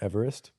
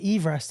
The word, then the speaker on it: Everest: No way is Mount Everest. No one's saying that. Named after Sir George Everest, and that's how he used to pronounce his name.